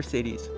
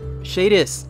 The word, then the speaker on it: Shadis: Oh, Commander Sadie's. Okay. Shadis. Oh my god. I didn't realize that's how you spell it.